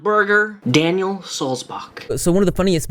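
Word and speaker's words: Sulzbach: It's Daniel Solzbach, as in like John Sebastian Bach, like the composer, the musician, Bach. Not Bach, not Buck, not Burger, Daniel Solzbach.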